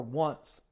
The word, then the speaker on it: once: talk about wants or once which is it rhymes with runs and this proper enunciation